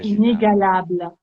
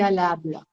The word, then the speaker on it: inégalable: Quand le préfixe in est placé devant un adjectif qui commence par une voyelle, ça se prononce in.